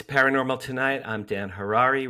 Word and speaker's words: Harary: I'm Mark Summers, and now, here's your host, Dan Harary. Hello, everyone. Welcome back to From Hollywood, it's Paranormal Tonight. I'm Dan Harary, rhymes with Ferrari.